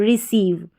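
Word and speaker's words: receive: फिर सी आ गया जैसे मैंने बताया और सी के बाद में ई आई वी ई आया है। इसको ई पढ़ेंगे तो सीव बन गया यह।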